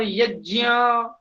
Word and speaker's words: यज्ञ: ज्ञान ज्ञान ज्ञान नहीं होता है, ज्ञान होता है जय और ज्ञ। वहां ज्ञ ज्ञ उच्चारण करना होगा, जैसे यज्ञ, हाँ जी। यज्ञ यज्ञ नहीं बोला जाता है। यज्ञ यह उच्चारण अशुद्ध है। क्यों क्यों अशुद्ध है? ज और य मिलकर के बनता है, ज्ञ बोलना चाहिए।